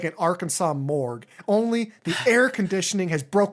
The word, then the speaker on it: Arkansas: I say this album is like a morgue in Arkansas because the S is silent, just like the scream